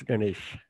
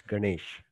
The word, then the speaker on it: Ganesh: ganesh on september 10th how is that one pronounced i don't i don't want to butcher it it's ganesh you you're right it's ganesh mm-hmm but what would